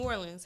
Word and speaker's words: Orleans: We pronounce New Orleans, New Orleans. However, we have a street called Orleans, and it is Orleans.